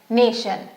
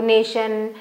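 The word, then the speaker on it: nation: okay T आई ओ एन शन अगर मुझे नेशन लिखना है तो मैं लिखूंगी एन ए टी आई ओ एन नेशन ठीक है वैसे ही शियस कॉशियस या शल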